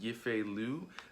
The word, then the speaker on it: Yifei Liu: This time around, you have, I believe her name is pronounced Yifei Liu, as Mulan.